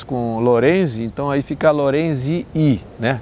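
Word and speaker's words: lorenzii: Lorenzi, mas a acentuação não está na última sílaba. Sempre na penúltima, nesse caso aí, né? Ok? Então é só mais uma regra aí do latim, da pronúncia do latim.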